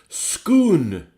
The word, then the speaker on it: Scone: Some are scone, and for us Scots, it's complicated by the place name Scone, which is pronounced Scoon.